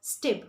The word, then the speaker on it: step: If I had to say step, S-T-E-P, step, so they would pronounce it as stip, which will definitely make you think that they are literally saying S-T-I-P.